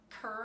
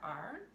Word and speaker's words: Kerr: It's actually the Kerr, I think I'm saying it correctly, Kerr.